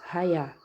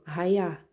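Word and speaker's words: היה: É transliteração inglesa, ok? Então, você lê conforme os ingleses. Raiá.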